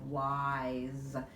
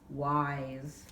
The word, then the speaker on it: wise: That's a long I, wise. And the S sounds like a Z, but it's an S, wise.